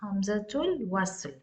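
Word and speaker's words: همزة الوصل: For example, here in this word, hamzatul wasl. How do I pronounce here? I am completely omitting the hamza here, and straight I'm going from ta marbuta to lam with sukun.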